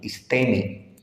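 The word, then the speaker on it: ἵστημι: está la palabra original y Note Cómo se pronuncia lo estoy resaltando aquí en azul istemi y fíjese todas las lo lo que traduce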